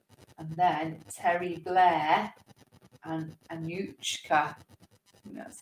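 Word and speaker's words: Anouchka: field then Vegas and then Terry Blair and Anushka that's how you pronounce it a new cap I didn't know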